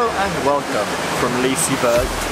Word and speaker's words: Liseberg: and welcome from Liseberg. That's how you say it. Apparently, I always thought it was Liseberg, but it's, as Sean Sambrook says, it's Liseberg. So we're at Liseberg in